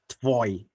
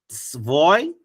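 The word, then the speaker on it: твой: You see that I did not say tev, I said tv. Then if it's easy for you to pronounce the word tv, then add oi to it.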